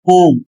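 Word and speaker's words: whom: और अगला शब्द है ओम। इसमें भी डब्ल्यू साइलेंट है।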